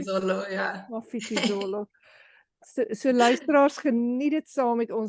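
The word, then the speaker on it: Mafikizolo: Mafiki Zulu.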